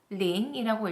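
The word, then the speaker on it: 零: 0은 링이라고 읽습니다.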